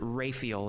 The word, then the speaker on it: Rael: He pronounces it Rael. It's like Raphael, but I'm trying to determine we're talking about two different people.